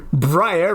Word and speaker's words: Briar: But raising kids, when Briar, rhymes with higher, and Hazel were born, it finally made sense.